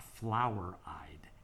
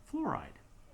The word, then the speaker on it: fluoride: the fluoride ion and that's spelled f-l-u-o-r-i-d-e not flower eyed it's not our it's fluoride ion this is called the